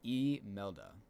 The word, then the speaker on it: Imelda: Technical National Hurricane Center pronunciation is Imelda.